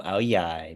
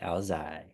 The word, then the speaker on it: Áo dài: Are I you say from I'm Ao Yai because Ao Yai? I was raised by Southerners. Yes. My girlfriend says Ao Zai.